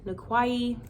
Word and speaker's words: Nikwai: Yet again, aka Nikwai, like Hawaii. That's how it's pronounced. It's pronounced like Hawaii.